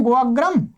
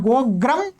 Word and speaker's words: गोअग्रम: चलिएगा, प्रत्युदाहरण आपको दिखाई दिए, ये उदाहरण है गोअग्रम और गोग्रम। यहाँ गोग्रम का उच्चारण नहीं होगा, यहाँ पर गो अग्रम यहाँ उच्चारण होगा, और ये दोनों एक